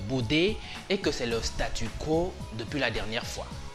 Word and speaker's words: statu: se trouvait les choses remarquez que le mot statut ici se prononce comme les autres mon statut et statues qui n'ont pourtant rien